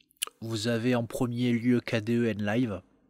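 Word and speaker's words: Kdenlive: avez en premier lieu kden live donc KD en live comme ça comme ça se prononce chercher le dos sur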